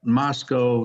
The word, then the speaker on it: Moscow: And I was told once that Moscow is pronounced to rhyme with Bosco.